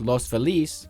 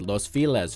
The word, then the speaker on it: Los Feliz: of Los Angeles and if you're a Spanish speaker who thinks I just horribly mispronounced Los Felice you're just gonna have to accept the fact that the people of La pronounce it Los files for some reason in